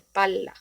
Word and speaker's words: palla: Os doy el ejemplo de palla eh, contra pala, y ya con esta duplicación de la consonante, en este caso L, cambia totalmente el significado y por consiguiente también la pronunciación.